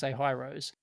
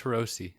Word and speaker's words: Hirose: It's Hirose. That's I'm sure Japanese, that's how it's pronounced. You pronounce each syllable.